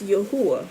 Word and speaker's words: Yahuwah: And in the book it says Yahweh, but it's Yahuwah, right? It's although people pronounce it Yahweh. I ain't gonna get on people for their mispronunciation, but as I study Yahweh, the W is actually, it shouldn't be a W.